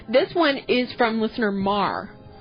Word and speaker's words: Mar: M A R. Yeah, it's Mar because she um requested a song that we'll play next week and she even said it's pronounced like the verb to scuff.